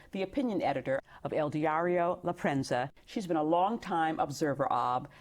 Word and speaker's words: La Prensa: Is it Lrenza? You got to you got to roll your R a little bit.